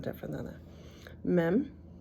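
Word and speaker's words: מ: sound different than that me m it's an M sound mopit goes at the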